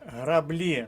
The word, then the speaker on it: граблі: граблі застіпка щелепа кидати але граблі наголос пада на другий склад і варіант г Ми